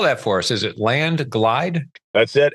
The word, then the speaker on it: Landglide: Spell that for us. Is it landlide?